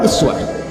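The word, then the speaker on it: إسوة: Dan dahsyatnya keteladanannya disebutkan dengan dua cara baca, satu uswah, kedua iswah.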